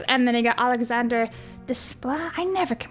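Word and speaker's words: Desplat: And then you got Alexander Desla. I never can pronounce his last name. It's D E S P L A T. So it's like display. I'm not sure.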